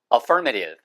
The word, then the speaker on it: affirmative: 그리고 긍정적인 이라고 할 때 발음 주의하세요. 이때는 for 액센트 있어서 affirmative 혹은 affirmative.